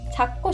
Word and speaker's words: 찾고: 찾고 싶어요. And the pronunciation here is like 찾고. For a lot of final consonants, if the next character also begins with a consonant, you'll just pronounce it like 티귿.